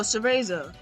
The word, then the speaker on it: Cereza: Oh, Cereza. Oh, sorry. Cereza. So you're saying this one right here in the teaser trailer who's shooting and bloody. You think that's Cereza?